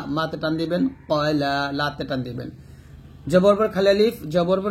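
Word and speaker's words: قال: মা ওয়াদ্দাআকা রাব্বুকা ওয়া মা ক্বালা। এখানে আমরা একটা উচ্চারণ ভুল করি, সেটা হচ্ছে কালা বলি, কফের উচ্চারণ কা বলে ফেলে, এটা ভুল করবেন না।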